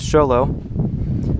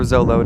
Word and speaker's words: Xolo: They created the Depurge, the Ribola, and the newly released Xolo, or Zolo, depending on how you would like to pronounce it.